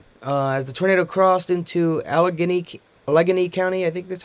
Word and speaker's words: Allegheny: As the tornado crossed into Allegheny County, I think that's how you pronounce it, Allegheny.